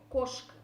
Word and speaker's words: кошка: Ударение переходит на первый слог «кошка».